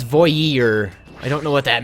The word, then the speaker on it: voyeur: Voy is like joy, but with a V. And ear is... well, you're not wrong. Voyeur?